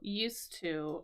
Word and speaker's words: used to: to get it so used to also has that s sound so some kind of important pronunciation details there um for you but yeah so use as a noun use as a verb and use to with an S sound when we're talking about